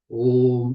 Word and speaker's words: Om: So Om, from the Mandukya Upanishad, is explained in Prashna Upanishad, Om is made up of 3 letters. A, U, Ma. Akara, Ukara, Makara. Yet it is pronounced Om.